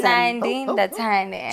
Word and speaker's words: Nandi Ndathane: Chilele with the beautiful singer, songwriter, composer, Nandi Ndathane. Am I saying it right? Awesome. Nandi Ndathane.